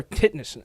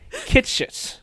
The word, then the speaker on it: Kitsch: by the name of Taylor Titness. I butchered that name. Titness. Yeah. Taylor Kitschitz is how you pronounce his name.